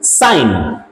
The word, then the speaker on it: sign: चले अगला देखेंगे, SIGN, साइन। ठीक है भाई, मैंने बताया, आपको बताऊंगा आगे चलकर, अगर जी के बाद एन होगा तो वहां पर जी क्या होगा, साइलेंट होता है।